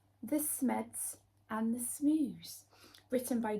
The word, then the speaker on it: Smed: why is he called smed what does smed rhyme with did you guess it right he's red smed for red so Smo must be